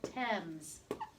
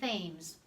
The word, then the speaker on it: Thames: This is how you spell Thames. Okay, it's not Thames. It's pronounced Thames.